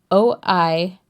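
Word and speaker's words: Oisín: Oisin. Oisin. Right. So if you don't know anything about Gaelic, yeah, it looks like Oisin. But that doesn't change the fact that it's a name with a set pronunciation.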